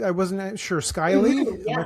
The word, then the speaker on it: Skyleigh: And again, obviously, and am I pronouncing, I wasn't sure, Skyleigh?